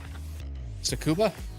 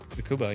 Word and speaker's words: Tsukuba: Tsukuba. Yeah. Tsukuba.